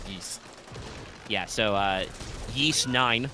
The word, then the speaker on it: Ys: is that serious pronounced is it pronounced yeast or wise I don't think I've ever heard anybody say it out loud I've always heard it was geese yeah so uh yeast